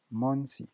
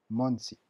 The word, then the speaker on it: monsi: Monsi, attention, c'est pas un on. On est bien en Tokipona, le O se prononce O, le N se prononce N. Il n'y a pas de nasalisation, comme on dit.